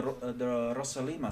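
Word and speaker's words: Rossolimo: This is called the Rosalima Sicilian. Rosalima was a guy from Russia, so I'm pronouncing it as though it were a Russian name.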